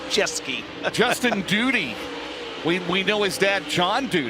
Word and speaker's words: Duty: And I said, it's pronounced Duty. He said, yeah, like Howdy Doody. And I go, it's not spelled like it. D-U-T-Y, so. Like duty free.